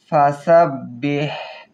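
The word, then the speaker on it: فسبح: ওইতানা ইয়াদখুনা ওই নাসাইয়া নিলহি আফওয়াজা ওইতানাইয়াখুনাফিদিনিল্লাহি আফওয়াজা ফাসাববিহ ফাসাববিহ হালকের মধ্যখান থেকে উচ্চারণ হবে ফাসাববিহ ফাসাববিহ গলার মধ্য থেকে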